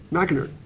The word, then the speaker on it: McInerney: McInerney.